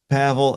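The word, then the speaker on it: Paweł: So all right, Pavl. And by the way, that's spelled P A Wel.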